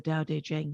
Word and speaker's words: Tao Te Ching: And she goes for the peacefulness of the Tao Te Ching, you guys. Yes, I don't know what that is, but it sounds. It's that's what it's the T is pronounced as a D.